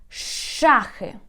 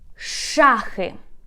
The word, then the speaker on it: шахи: For example, we have the word shum, shum, sh, shum, or for example, шахи, шум, шахи.